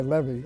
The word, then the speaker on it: Levy: It's L-E-V-Y, Levy. I pronounce it Levy.